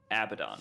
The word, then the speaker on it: Abaddon: conversation with myself about whether he should be pronounced abadan Abaddon he says I came to a conclusion that it's a Abaddon Oh what feels more